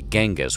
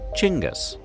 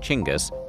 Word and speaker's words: Genghis: While most Westerners say Genghis with a hard G, that's incorrect. In Mongolia, the G is soft, so it's actually pronounced like this, Chinggis.